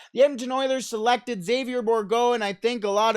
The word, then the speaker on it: Bourgault: The third best prospect in the Edmonton Oilers organization, Xavier Bourgault.